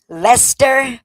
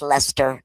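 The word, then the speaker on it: Leicester: says Lchester, but in here in Boston that's Lester, Mass. It's looks like Lchester. It's pronounced Lester.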